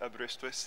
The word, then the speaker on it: Aberystwyth: you did quite well it's pronounced abreast and outsiders usually struggle it's a welsh name and it is